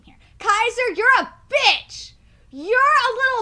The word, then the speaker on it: Kaiser: Kai's are not what's this kai Sarris that's not what it is and it's spelled I gotta say it it's spelled ka a.k.a e SI r and I'm gonna say Lumumba name here Kaiser you're a bitch you're